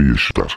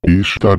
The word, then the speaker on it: Ishtar: Semiramis tornou-se conhecida como Ishtar, que é pronunciado como Easter, Páscoa em inglês, e seu ovo lua tornou-se conhecido como Ishtar Ovo, ou Easter Egg, que significa ovo de Páscoa.